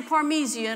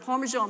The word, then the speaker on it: parmesan: say pronounce it wrong i say parmesian or parmesian parmesian all the time instead of parmesan my husband laughs at